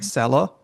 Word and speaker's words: selo: So short climbing accent is selo, and Uh-huh. short down accent is pekar.